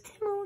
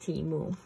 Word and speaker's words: Temu: even though they are such amazing prices on teu teu has really got your back and for those of you who are still wondering I know they had a football commercial where it was Timo timu timu whatever I messaged um timu because